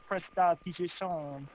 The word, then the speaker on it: prestidigitation: The good smell is prestidigitation. That's how it's pronounced, and it's a cantrip.